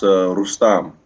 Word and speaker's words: Rustam: Yeah, if you want to say it super proper, it's Rustam.